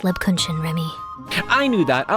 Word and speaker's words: Lebkuchen: It's pronounced Lebakuchan, Remi.